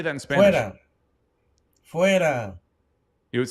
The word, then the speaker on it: fuera: Neville Fuera. There we go. Neville Fuera. Fuera.